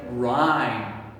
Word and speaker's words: rhyme: go to gh do you see what i say rhyme we do not say i'm okay the h becomes silent and we say it like it's not there r i rhyme remember